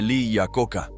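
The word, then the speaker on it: Iacocca: Se dice Le a Coca, ignorante inculto fanático del automóvil.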